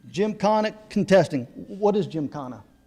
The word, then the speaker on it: Gymkhana: in, I'm going to mess, how do I pronounce that? Gymkhana. Gymkhana contesting.